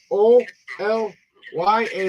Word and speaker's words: Olya: oh yeah are you there her name is o l y a that's how she pronounce her name Oya but it was Olga kind of like you